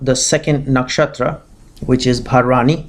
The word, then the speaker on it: Bharani: So today we'll be discussing about the second nakshatra, which is Bharani, Bharani. That's how it's pronounced, Bharani.